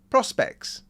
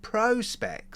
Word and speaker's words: Prospex: a very desirable Seiko Prospex or, I don't know, Presage. Oh, by the way, there's been an advertising campaign in the UK recently by Seiko, and on the TV they say Prospex, not Prospex.